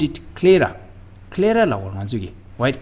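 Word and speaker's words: sclera: have a structure called Clara S is silent so Clara so this is the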